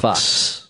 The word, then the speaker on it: Faux: Zeke foe foul Fox pronounced Fox spelled faux but pronounced fo misleading